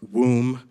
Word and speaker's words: womb: gh and words like womb which rhymes with room but not with comb, right?